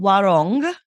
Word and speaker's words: Warong: Yeah, we have a shop here called Warong with a G, Warong, and it's like yeah, that's the proper pronunciation.